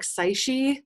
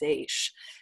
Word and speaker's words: seiche: It looks like seiche, but it's pronounced seiche.